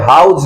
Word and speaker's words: how's: हैं, वो कहते हैं हाउज लाइफ. वो क्या कहते हैं? How life? मतलब यह है कि वो हाउ और इज इन दोनों को मिला करके बोलते हैं हाउज.